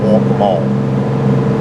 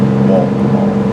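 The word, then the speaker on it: Waccamaw: you got to remember you got to say it like you got a mouth full of marbles walk all walk all anyways um besides that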